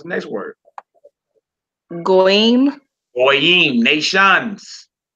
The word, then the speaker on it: goyim: Goyim, nations. Notice we don't say goys. Goys. Heathens, goys. No, it's goyim.